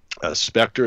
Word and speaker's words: Spectre: did your latest one that I watched about Spectre is that how you say it with the